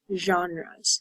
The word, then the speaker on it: genre: So different types of TV shows and movies are called genres. That is this word, genre. It's a French pronunciation, right?